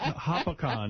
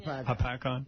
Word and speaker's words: Hopatcong: All right, Mike, go ahead in Lake Hopatcong, New Jersey. Is that how you say it? Like a pack-on. Hopatcong?